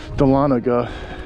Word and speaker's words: Dahlonega: and I butchered the name of the town Dahlonega is I believe the correct pronunciation and the gentleman was telling me some